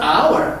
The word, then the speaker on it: hour: She will come back in an hour. hour가 발음이 아 발음이죠. hour니까. 그래서 on이 붙습니다. Los Angeles has an, 역시 ideal이 아발이에요.